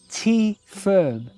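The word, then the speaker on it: Tyferm: So the store is called T Firm, which is farmhouse in Welsh.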